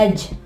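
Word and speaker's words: edge: इसके अलावा एज, किनारे को कहते हैं एज, यहां भी देख ले डी आवाज नहीं दे रहा, एज।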